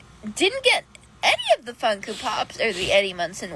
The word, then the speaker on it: Funko: a hundred Funko Pops that she pronounces funku pops the more you no